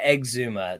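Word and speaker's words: Exhuma: Korean horror film yeah egg Zuma that's how it should be pronounced if you took the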